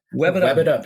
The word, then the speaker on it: Webbitup: Web It Up. Web It Up. Web It Up. It's like Rev It Up, but it's Web It Up.